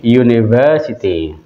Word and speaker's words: university: Karena pengucapannya adalah u ya, u begini, maka yang keluar huruf y kan? Ya, jadi gunakannya Mengapa Karena pengucapannya u, university.